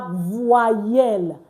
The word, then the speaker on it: voyelle: previous classes we had, I mentioned that OY is pronounced wa. OY and OI is pronounced wa. So VOY is voix. Voix. Then just add this L. You don't pronounce the E at the end of your word in French. I hope that explained it. So that's how we have voyelle. Voyelle.